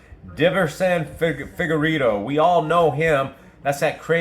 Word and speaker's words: Figueiredo: Davison Figueiredo. And that's how I pronounce his name, guys, because I'm new at this, and some of these guys' names I can't even pronounce. Davison Figueiredo.